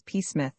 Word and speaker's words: Psmith: The name is Pith. Peith. The P is silent.